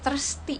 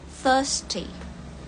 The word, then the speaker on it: thirsty: Oke, untuk pengucapannya itu bukan thirsty, bukan T-nya tuh nggak dibaca T, tapi thirsty. Untuk British ya, thirsty. R-nya nggak dibaca untuk British. Kalau American, thirsty. R-nya agak diajak gitu ya.